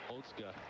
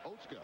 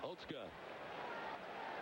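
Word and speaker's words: Otsuka: It does not appear to be Oska. No, the spelling you would think it would be Osuka. Yeah, but it's Oska. Oatska.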